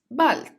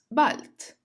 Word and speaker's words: bald: To say see you soon, you say bis bald, bis bald. Because here the letter D comes at the end of the word, it is said as bald.